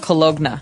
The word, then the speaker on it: cologne: It ends with, it's spelled C-O-L-O-G-N-E. So you don't really say the G. It's not cologne. Right. It's cologne.